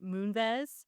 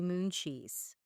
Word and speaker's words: Moonves: Her name is Julie Chen Moonves. Oh, And the joke is somebody in our family couldn't pronounce that. right. And so he would pronounce her name Julie Mooncheese.